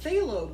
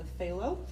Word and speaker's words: phthalo: blue then we have phthalo blue which is spelled with a p and it is a